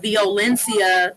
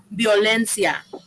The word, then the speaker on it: violencia: The way he said denuncia, violencia, that's not Spanish. It's to be denuncia, violencia, right?